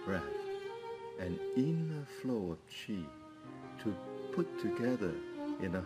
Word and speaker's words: qi: Chi is pronounced s Qi is not q but Chi which means breath air